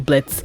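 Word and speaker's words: Blitzø: He's still gonna be a Blitz with a silent O, crude, rude. But imagine how the story ends if he goes back to being Blitzo. He was Blitzo, he silenced the O, but then he goes back to being Blitzo.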